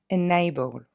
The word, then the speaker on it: enable: Par exemple, to enable, qui veut dire rendre quelque chose possible, on n'est pas du tout dans une terminaison ici. Ok? Et donc, on va le prononcer enable.